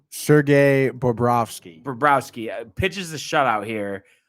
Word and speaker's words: Bobrovsky: And what is it? Borbowski? Is that how you pronounce the goalie's name? Sergei Bobrovsky.